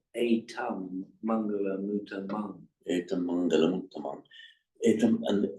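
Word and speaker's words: etaṃ maṅgalaṃ: That is because that is because it is followed by an M Right. and pronounced distinctly as a double M.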